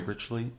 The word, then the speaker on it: Ritually: Did I pronounce it Yeah. correctly? Ritually.